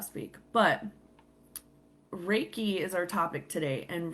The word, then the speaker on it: Reiki: Reiki is spelled Reiki, okay? And it's pronounced Reiki. So how my instructor told me is just think like when you're raking the lawn, Reiki.